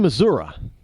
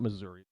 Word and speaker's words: Missouri: in uh in in Missouri how I understand they pronounce Missouri it's not Missouri there's no a at the end it's an I but Missour I hope I pronounce that